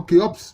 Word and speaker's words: Khéops: la pyramide de Gizeh, construite par le pharaon Khéops, mais ça c'est une prononciation grecque, sinon c'est Houfou.